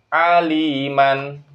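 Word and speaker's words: عليما: Saya baca aliman jika waqaf dibaca alima.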